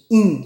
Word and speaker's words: hin: Quando eu falo hin de azeite, algumas pessoas pronunciam rim, mas eu acho que rim fica muito feio. E eu não sei se a pronúncia também é essa. Eu prefiro ir pelo brasileirês mesmo. In, né? H com I, né? O H é mudo.